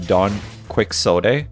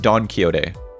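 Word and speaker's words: Don Quixote: My My friends pronounce Don Kyote as Don Quicks. It's actually pronounced Don Kyote.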